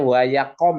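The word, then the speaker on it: ויקם: Nah, terus, nah ini bacanya wayakom ya. Jadi kalau ada begini udah baca o aja ya.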